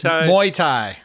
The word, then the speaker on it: Muay Thai: And and Muay Thai. Am I pronouncing that correctly? Muai. Muay Thai.